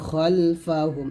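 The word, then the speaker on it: خَلْفَهُمْ: দেখুন এখানে বাংলা উচ্চারণটা খালফাহুম আছে যদিও, তবে খাল না বলে খল বলতে হবে, খলফাহুম, এটাই আরবি।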